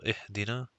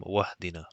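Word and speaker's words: اهدنا: means that they are the hamza is not pronounced, so it's continuous. So ihdina. If this was connected with waw, then this alif would not be pronounced. So it would have been wahdina, for example.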